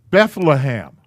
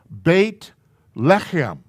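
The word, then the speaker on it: בית לחם: gets pronounced set and they add this h it's bethlehem that's not the name of that town bait lechem is the name of that town and there's no th at the end of it it's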